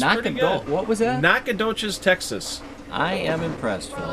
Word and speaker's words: Nacogdoches: Boy, Amber your and Steve- pronunciation is spot on today. It's pretty good. What was that? Nacogdoches, Texas.